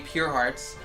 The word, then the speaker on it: Purearts: Hence the name Pure Hearts. Their name is spelled Purearts. Is a combined word of two words, pure and heart. It's still pronounced the same, just combined and without the H.